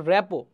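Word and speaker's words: rapport: আর টি রেপোর্ট কিন্তু এটা যদি আমরা বলি এটার উচ্চারণ হবে রেপো রেপো পেশাদার সমাজকর্মীর সমস্যা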